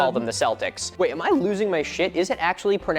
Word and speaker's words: Celtic: Celtic with a hard C or K is the standard, but that was not always the case. The early pronunciation was with an S sound reflecting its nearest origin in French.